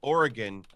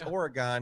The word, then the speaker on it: Oregon: she says hi vindication I have always pronounced Oregon the right way no it's Oregon honey I'm sorry my wife